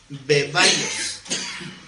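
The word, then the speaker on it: βέβαιος: seguro es la palabra bebaios. Como bebé, beba y os, bebaios, porque tiene acento en la E, bebaios.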